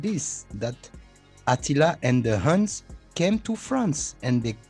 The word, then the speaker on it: Hun: how to say it in english but you spell it h-u-n how do you say that they were from